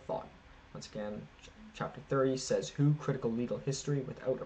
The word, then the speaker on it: Desautels: Schlegel so his chapter is titled Chapter 30 says who that is if you're only listen to that s e Zed it's spelled um says who critical legal history without